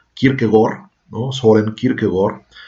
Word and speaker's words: Kierkegaard: padre de kierkegaard bueno que en danés cada decir la nota erudita que quiere pegar se pronuncia quiero que gol no suele decir que